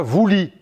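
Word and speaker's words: Βουλή: En grec moderne, ça s'écrit comme en grec ancien, boulet, sauf qu'ils le prononcent différemment. Ils disent la voulie.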